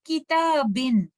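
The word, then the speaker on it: كِتَابٍ: और तनवीन के अंदर नून साकिना छुपा हुआ होता है, ये आपको देखने में तो नजर नहीं आता, लेकिन जब आप तनवीन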